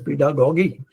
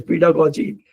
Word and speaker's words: pedagogy: question what is pedagogy some some people wrongly pronounce as pedagogy it is pedagogy what is pedagogy sir